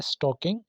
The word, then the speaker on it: स्टॉकिंग: Number one word है, देखें, स्टॉकिंग। इसमें एल साइलेंट होता है, आपने क्या बोलना है? स्टॉकिंग।